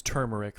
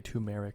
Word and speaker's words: turmeric: like um yeah and it's turmeric for people who say tumeric or whatever now let's see how